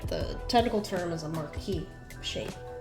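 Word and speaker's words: marquise: technical term is a marquee shape. It's spelled with the Q and U-I-S, but the S is silent.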